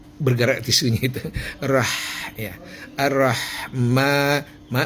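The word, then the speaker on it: الرحمن: Arrahma ma mim di atas mim ada alif kecil ya berdiri ya. Itu tanda dipanjangkan di mad ya. Mad. Madinya dipanjangkan tapi hanya dua ketukannya.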